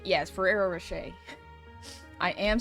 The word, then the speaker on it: Ferrero Rocher: Anyone know how to pronounce Ferrero Rochet? Yes, Ferrero Rocher.